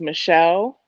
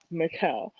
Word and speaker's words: Micelle: My first name is Mikkel, and it's spelled Micelle. It's like Michelle without the H. Uh-huh. Mhm. Um, every job, every school, no matter where I go, the white people cannot pronounce it. It's always Michelle, Maselli, Michael. I've been Michael a few times. I've been Um, everything but Mikkel.